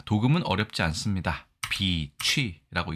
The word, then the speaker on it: 翡翠: 자 도금은 어렵지 않습니다 비치라고 읽습니다 앞에가 장음이 그래서 비치라고 읽어야 되는데 자 명사로서 광 물중에